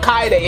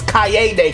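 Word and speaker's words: Kaede: the first two episode I think I was pronouncing it wrong not K day is Cay day cuz of the e in the middle so my fault if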